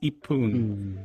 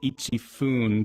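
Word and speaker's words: 一分: It's just kind of like ichi turn like if you're saying 1 minute, it's i poon. But, you would think it'd be ichi fun.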